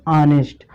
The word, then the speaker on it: honest: ठीक है, तो इसको क्या पढ़ेंगे, ऑनेस्ट।